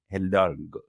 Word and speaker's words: Hidalgo: Hidalgo.